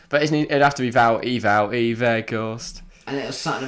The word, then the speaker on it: Wout: Wout, that's awful. 1 syllable.